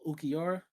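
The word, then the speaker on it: Ulquiorra: Um, I don't know how to pronounce his name. Oh, Ukora. Ukior.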